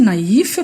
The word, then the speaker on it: naïf: différence entre deux idées et aussi naïf pour ne pas dernière il faut il faut prononcer séparément les deux voyelles qui se suivent naïve ça veut dire